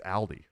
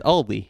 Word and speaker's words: Aldi: uh alies Aldi it's Aldi it's Aldi there is no s at the end of it it's Aldi nobody I